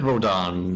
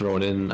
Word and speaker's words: Rodin: Yeah, she said Rodan. It's Rodin. I don't know. I suppose you pronounce it Rodan as well.